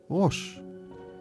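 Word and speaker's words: ראש: For the letter Resh, or R, they drew a picture of a head, pronounced Rosh, etc.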